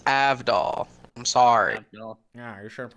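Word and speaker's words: Avdol: watch the um a-v-d-o-l okay okay so it's AV doll I'm sorry yeah you're trying to pronounce it properly oh you should have pronounced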